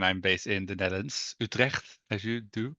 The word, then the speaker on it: Utrecht: I'm the product manager and solution architect at Blackbird, and I'm based in the Netherlands, Utrecht, as you do correctly pronounce it.